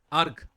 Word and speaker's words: erg: আর্গ। ঠিক আছে, ইআরজি, এটা প্রোনাউন্সিয়েশন হলো আর্গ।